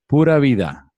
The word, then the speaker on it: pura vida: And as we say here in Costa Rica, pura vida.